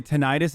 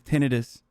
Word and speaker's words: tinnitus: out that the way the proper way to say tinnitus is tinnitus military celibacy means this